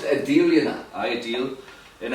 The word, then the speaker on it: Adele: Like, it's pronounced Adele, you know.